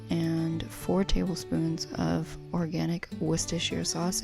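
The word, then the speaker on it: Worcestershire sauce: Then I did two tablespoons of organic ketchup and four tablespoons of organic wist sauce. And yes, that's how you're supposed to pronounce it. I'm half English.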